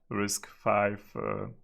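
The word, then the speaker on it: RISC-V: store databases V but it's actually risk five yeah pronounce risk five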